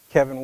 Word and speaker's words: Kavin: now like renee said my name is kevin williams with an a it's pronounced as if that a were an e now mama was in